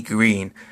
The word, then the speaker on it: Greene: Today, I did a review on The Walking Dead Series 5 figure Maggie Greene. I'm hopefully pronouncing her last name is Green right, even though it's spelled with an E, so I don't know